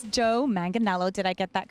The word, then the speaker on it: Manganiello: excited to meet especially Our Ladies it's Joe manganello did I get that correct the pronounce oh good awes so many people don't